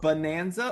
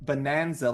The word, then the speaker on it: bonanza: Are we saying bonanza, or are we saying like bonanza, like a banana?